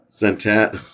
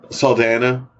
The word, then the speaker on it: Saldana: Zoe Santana. I can never say her name. Zoe Santana. Saldana.